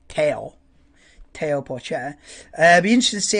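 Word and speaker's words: Théo Pourchaire: And then the other ones that I'm really interested to see how Teo Porcher, I think that's how you say his name, rather than Theo. I think you go for a French Teo Porcher.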